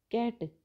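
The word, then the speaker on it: cat: कैट, सी ए टी में सी क का उच्चारण देती है, लेकिन सी आई टी by city, city में जो सी है वो सह का उच्चारण देती है।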